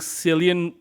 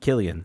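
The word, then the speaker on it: Cillian: I think Sillian, how do you say his name? Killian.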